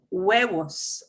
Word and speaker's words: huevos: It's spelled with an H, but we don't say it. Huevos, eggs.